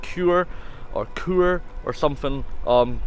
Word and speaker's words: Chur: quite a long time I've just found out is actually pronounced cure or cure or something